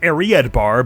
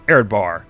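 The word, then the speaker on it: Areadbhar: is happening with uh not aried bar but aired bar here or he said it aired var var right okay erdvar the very same i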